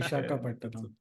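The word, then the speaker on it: Visakhapatnam: After an epic win by India in what is the correct way to pronounce it? Visagapattanam. Am I saying it right? Vishakhapattanam.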